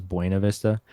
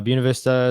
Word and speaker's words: Buena Vista: called Paddle Fest in Buena Vista. I think is the correct pronunciation. Everyone says Buena Vista. But Buena Vista, it's like southern Colorado off 285, the Arkansas River.